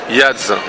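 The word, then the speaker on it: Yaadz: Yadz.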